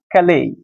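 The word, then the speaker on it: Calais: ক্যালেই। দেখো, এই উচ্চারণ কিন্তু ক্যালিস নয়, ক্যালে নামক স্থানে যখন যাচ্ছিলেন তখন তার মাঝখানে একটা ব্রিজ পড়ে।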